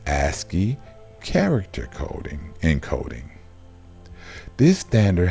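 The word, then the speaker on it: ASCII: punctuation and symbols are part of the asy pronounced asy character coding encoding this standard has changed very little since 1960 and it is the foundation of all the commonly used encodings aski stands for American Standard code for information interchange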